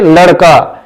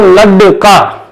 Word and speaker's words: लड़का: आप खुद भी बोल के दे सकते हैं, लड़का, लड़का। और अगर हम इसकी जगह इस ड को इस्तेमाल करते हैं तो लड्डका।